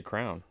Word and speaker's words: crayon: like no it's crayon no it's crayon so like after two years of just hearing that it's like it just clicked this is crayon now yeah how do you say no i just say crown like pass me that crown crap hey you